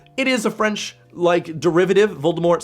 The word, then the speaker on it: Voldemort's: Voldemort's supposed to have the word death in it more, so don't pronounce the T.